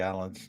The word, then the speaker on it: Alain: I gotta know how to say Alan's name. I gotta figure it out. French. Alain Popard is sort of the French version, but it's pronounced Alan.